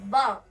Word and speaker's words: vin: This word is vin vin in the nasal contrast here but in Spanish it is vino.